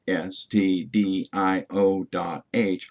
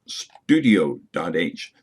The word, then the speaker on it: stdio.h: proper to pronounce stdio.h either by its letters s t d i o dot h or call it standardio dot h but not studio dot h there is no u